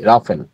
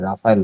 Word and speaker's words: রাফেল: রাফেল একটা কোশ্চেনও রেখেছি রাফেল অনেক জায়গায় রাফায়েল লেখে উচ্চারণটা হচ্ছে রাফেল রাফায়েল নয় একদম একদম প্রবলেম পলিটিকাল